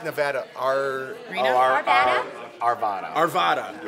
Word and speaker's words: Arvada: I always say it wrong, so I'm not I really kept sure. doing the stand up. I'm like, Arvadia, we're in Arvadia, California. And they're like, Colorado. I'm like, Arvada.